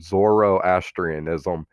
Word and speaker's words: Zoroastrianism: So the Z word here is pronounced Zoroastrianism.